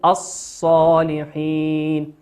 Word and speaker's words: الصالحين: وقوله سبحانه وتعالى الصالحين، الصالحين لام ساكنة أتى بعدها حرف الصاد، والصاد من حروف اللام الشمسية ندغمها الصالحين، لا ننطق اللام نقول الصالحين.